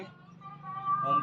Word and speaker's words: ओम: यहाँ हम अब करेंगे ओम का उच्चारण। ओ अ म। ओ में इनहेल करेंगे, अ में होल्ड करेंगे और म में एक्सेल करेंगे।